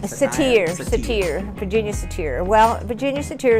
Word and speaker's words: Satir: You know, how do you pronounce that name? Satir, Virginia Satir.